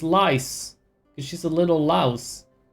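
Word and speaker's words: Lyse: Not Lee. Why are you pronouncing it like that? It's Lice.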